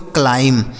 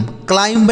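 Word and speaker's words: climb: इसे पढ़ते हैं दोस्तों क्लाइम। क्या लिखेंगे इसे? क्लाइम। देखिए यहां जो बी है ना दोस्तों, यह बी साइलेंट है। मतलब इसका उच्चारण हमें नहीं करना होता है। तो इसे हम पढ़ेंगे क्लाइम। क्लाइंब नहीं क्लाइम।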